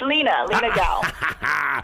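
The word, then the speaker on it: Lina Gao: What is the correct way to pronounce? It's Lena Gal.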